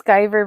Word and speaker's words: skiver: AI says skiver rhymes with driver.